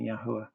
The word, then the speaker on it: Yahweh: Steven pronounced our creator, the father's name, Yahweh.